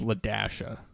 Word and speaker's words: Ladasha: So the name is Ladasha, which is a pretty common name. Now, however, the name Yeah. is spelled weird. It is spelled LA-A.